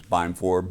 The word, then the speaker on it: Beimfor: People cannot pronounce my name. It's Beimfor, BEI, just like SEI. Yeah, So just like it. EII. I always pronounce EII. Some people pronounce it E. I don't know why. But it should be I, right?